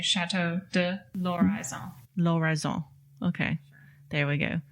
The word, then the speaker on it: Chateau de l'Horizon: you don't have to pronounce the L and the H because it's an L apostrophe. That's right. So you just say Chateau de L'Horizon.